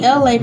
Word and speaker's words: Elay: So that's me, Elay, pronounced like LA, like the city.